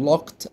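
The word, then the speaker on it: locked: لور دور معلومه اخيره الداء هنا تنطق تا لانها اتت بعد حرف الك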